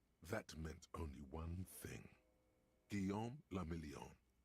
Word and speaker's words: Guillaume le Million: Guillaume la Million. If it doesn't rhyme, you're not pronouncing it right. Guillaume le Million.